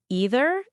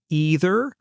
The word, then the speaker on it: either: do you say either you can say ee-ther or you can say ei-ther both are correct same with neither you